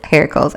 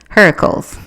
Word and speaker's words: Heracles: it wrong I'm not it's hair calls h-e-r-a-k-l-e-s okay hair calls Heracles I'm not sure the